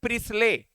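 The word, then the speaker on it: Priestley: Joseph प्रिस्ले, T silent रहेगा।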